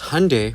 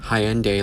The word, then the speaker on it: Hyundai: Because Hyundai pronounced like Sunday, not Hyundai.